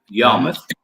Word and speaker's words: Yarmouth: If I pronounce it wrong, what was it? Yarmouth.